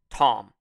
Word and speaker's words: Thom: mick as in m-i-c-k t-h-o-m tom now that's a weird spelling for the word tom it's supposed to be thompson but without the sin and the p so it's tom there you go he